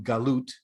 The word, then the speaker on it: galut: As we discussed in the morning session, there's a distinction to be made between the concept of exile, in Hebrew galut, or golus in the Yiddish pronunciation, and the concept of a diaspora.